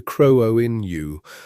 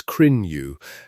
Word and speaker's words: Cruithne: It is pronounced something close to crow-o-in-you or sometimes crin-you, depending on whose mouth it passes through.